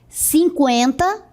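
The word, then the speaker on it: cinquenta: Agora, você vai observar que a pronúncia é a mesma. Eu pronunciava antes 50 com o trema, e agora eu pronuncio 50 sem o trema. Porque antes o trema servia para marcar a pronúncia do U.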